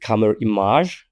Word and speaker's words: Camerimage: we talk about is camer image film festival in Poland uh some people also call it camer image from like French pronunciation of like the the image word and the lineup of